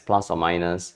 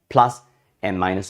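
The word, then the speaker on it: ±: Okay, but you must pronounce this as plus or minus x. Okay, if you to pronounce this as plus or plus and minus, sorry, I can't even say it.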